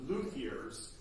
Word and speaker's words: luthier: There was a question about if we were aware of any luthiers in Williamsburg. Luthiers. Luthier, luthiers, that's right. Yeah, luthiers. Luthier is the French pronunciation.